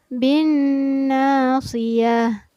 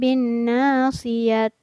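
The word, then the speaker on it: بالناصية: Bin nasiyah. Jadi bukan bin nasiyat.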